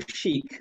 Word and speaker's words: Chick: you how are you i love the way you pronounce my name by the way it's just beautiful cheek like that it's just uh it reminds me of nile rodgers and chic so that's that's right